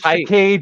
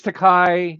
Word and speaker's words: Takei: Like another George Takei, George Takai, it's like it's Takei. Yeah, but Takei doesn't like flip his bird and get all angry. It's Takei.